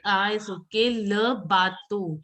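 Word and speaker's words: le bateau: Try and say O instead of U. It is O. EAU is pronounced as alphabet O, not U. Okay. Le bato o a vapor. Bhuvneshwari, how will you pronounce this? Le batu a vapor. Yes. Try and practice your O. Like EAU has to be pronounced as alphabet O and not U.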